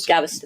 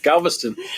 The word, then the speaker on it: Galveston: Gavston. No, you got to be saying it wrong. Galveston.